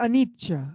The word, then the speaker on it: anicca: Y se pronuncia anicca.